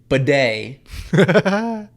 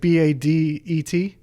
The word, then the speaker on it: bidet: Bidet. Bidet toilet. There we go. All right, let's see how this works. Is it BADET?